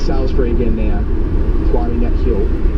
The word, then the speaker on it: Salisbury: back of the box saying it's Salisbury, not Salisbury. I can go with that. The matter of pronunciation, I see the way it's spelled and the way it's said are obviously There's a man at odds with each other somewhat. I think a man has